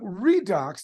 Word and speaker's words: Reidox: you that you are a fit person look redox the word redox appears as a lot you know with you all you know the redox for Life podcast uh the redox networking acts